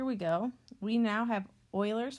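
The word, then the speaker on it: Euler: go we now have Oilers formula that's how you pronounce that and its faces plus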